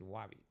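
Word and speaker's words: WABT: Wabby. We pronounce it Wabby.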